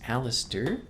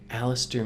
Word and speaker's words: Alister: before we got married spell differently but pronounced the same Alistair means defender or helper